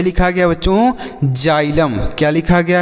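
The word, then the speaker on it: xylem: एम इसे हम पढ़ेंगे जाइलम जाइलम का अर्थ होता है बच्चों दारू क्या होता है दारू जाइलम तो इसे आप याद रखिएगा इसे हम जाइलम पढ़ेंगे यानी x को हम ज का उच्चारण करेंगे एक्स का ज उच्चारण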